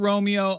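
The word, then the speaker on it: Roamio: The Romeo, the $200 Romeo, I don't think should be called Romeo. It's spelled R-O-A-M-I-O.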